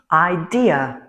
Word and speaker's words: idea: H je vous donne un exemple, le mot idea. Idea trois syllabes euh mais il faut mettre l'accent sur la deuxième idea.